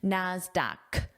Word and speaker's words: Nasdaq: And the pronunciation of this is a k sound, Nasdaq.